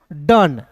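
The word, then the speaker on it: done: देखिए ओ है और अंतिम में ई है, तो बहुत लोग डोंट पढ़ लेता है, नहीं, क्या पढ़ेंगे दोस्तों? डन।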